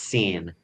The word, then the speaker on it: Seyn: One of the main characters' name is Seyn. It's pronounced that way.